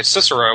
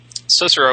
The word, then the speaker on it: Cicero: And by the way, I'm pronouncing Cicero in English because otherwise it'd be Cicero, and I don't think anybody would know who the hell I'm talking about if I said Cicero. All C's are hard in Latin.